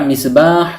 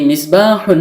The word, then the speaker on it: مِصْبَاحٌ: বাতি অনেক সময় আমরা মিসবাহ বলে থেমে যাই শুধু মিসবাহ উচ্চারণ করে মুখস্ত করে থাকি অর্থাৎ ওয়াকফ করে ফেলি মানে শেষের তানভীনুনটি উচ্চারণ করি না কিন্তু আশা করি এখন